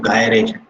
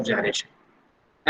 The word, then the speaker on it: gyration: वो फटाक से बोलते हैं sir radius of गायरेशन. It is not gyration, it is pronounced as gyration. ठीक है? अभी क्या चीज है रेडियस ऑफ जायरेशन?